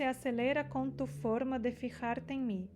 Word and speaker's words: fijarte: Fijarte, aqui o J, não esqueçam dessa pronúncia, fijarte. Na América Latina eles falam mais suave o J, tá? Então, fijarte, não fijarte é mais na Espanha.